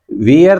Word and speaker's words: wear: हाँ, तो वेयर helmet किया था ना, वियर तो नहीं बोलते कहीं आप उसको। No, sir. हाँ, कभी पहनने को आप वियर बोलते हो, स्पेलिंग वही है, WEAR है, पर बोलते हैं उसको वेयर।